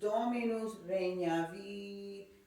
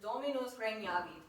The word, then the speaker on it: dominus: this one little syllable it's not even a word it's domino's you know what i'm saying yeah so the way that is is dominus that's how that's supposed to be said so the latent tour